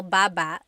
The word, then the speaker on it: baba: Baba ba. Then there's babba baba. Emphasis is on the second syllable syllable. That means to go down.